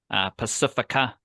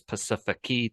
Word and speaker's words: Pasifiki: Like, I see a 19-year-old, and I'll give them a pass for saying Pacifica Tonga when his name is Pasifiki Tonga.